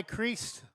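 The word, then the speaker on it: Crist: It will be Eli Crease batting for Eugene with two outs. to first spelled like Christ minus DH C R I S T which is down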